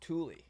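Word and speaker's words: Thule: at was called tule th you le but pronounced tule and it's if there's a polar bear sighting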